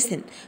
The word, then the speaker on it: listen: هنا بقول listen ما نطقتش تي.